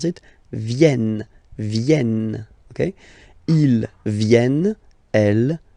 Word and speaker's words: viennent: So you've got this double N just after the so it will change a little bit your pronunciation. You will have to pronounce this like eh. Okay? Ils viennent.